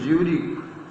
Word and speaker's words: Zurich: This young Serb means Serbian, had come to Switzerland because the university in Zurich, Z है लेकिन pronunciation J होगा, was one of the few in Europe where women could get degrees.